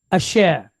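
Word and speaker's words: אשר: And then we have three dots, segol with resh. So sh, er, share. So asher. Okay.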